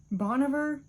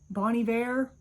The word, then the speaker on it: Bon Iver: is my um Bond I'm gonna mispronounce it because I've been flamed before about how I pronounce it boniver Bonnie Bear I used to say Bon Iver until somebody corrected me in person I was like oh